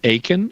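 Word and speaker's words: Akin: just like it sounds my last name is aen and so it's spelled a k i n there are no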